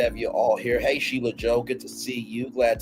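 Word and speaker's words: Sheila E.: to me because um I was saying it phonetically for the longest time sheo and I butchered it so bad until you know s like that's my friend you say Sheila Joe I'm like oh okay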